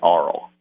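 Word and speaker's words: Arles: I landed on, I think you pronounce it, my wife told me anyway, you pronounce it Arl, the French horse. And in French, the ES is silent, apparently.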